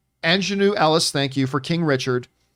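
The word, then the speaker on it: Aunjanue Ellis: I always mispronounce her name because I read it 1,000 times. Ingenue Ellis? Ingenue Ellis, thank you, for King Richard.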